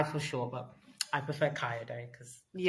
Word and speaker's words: Kayode: So, it's pronounced K. Ka day. Okay. Kyod. Yeah. Some people call him Kai for sure, but I prefer Kaio day cuz Yeah, that's his name.